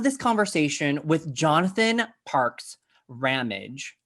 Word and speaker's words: Ramage: conversation with jonathan parks rammage which rhymes with damage i just got that